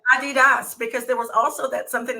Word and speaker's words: Adidas: So, and you're right, it's Adidas, because there was also something that came to say it is a term.